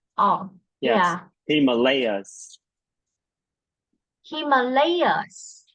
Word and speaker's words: Himalayas: In this word, you should stress on the third syllable. Himalayas. Yeah, repeat Stress on after the me. first syllable. No, the third The syllable. third. Oh, Yes, yeah. Himalayas.